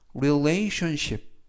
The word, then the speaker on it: relationship: 뜻이 되겠습니다 이번 표현은 relationship relation relationship이라고 발음하시면 되겠고요 이때 강세는 알파벳 a 강세가 있습니다 그리고 가운데 부분에 있는 ton네 개의 철자가 동시에 션 션이라고 발음이 됩니다 그래서 이라고 발음하시면 되겠고요